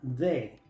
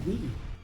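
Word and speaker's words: the: Muchos pronuncian esta palabra de. Pero esta palabra no se pronuncia de nunca. Esta palabra tiene dos pronunciaciones. Cuando viene antes de una palabra que empieza con vocal, se pronuncia di. Cuando viene antes de una palabra que empieza con consonante se pronuncia.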